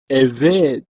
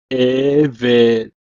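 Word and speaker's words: עֶבֶד: It's pronounced as Eved, Eved.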